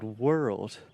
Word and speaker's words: world: And then you can add a stress to the second syllable. We're old, we're old, we're old, we're old, we're old, we're old, world. And that just combines together and creates that beautiful RL sound in English.